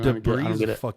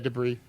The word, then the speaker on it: debris: got to add the s for some reason de is weird too debris how many people say that